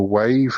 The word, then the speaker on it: Waeve: I'm not sure if they're pronounced the Wave. It's spelled Waeve.